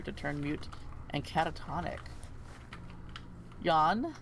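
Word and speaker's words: Jan: turn mute and catatonic yawn the crown prince it's spelled j-a-n but i'm just thinking that's what you pronounce that yawn yeah a noble prince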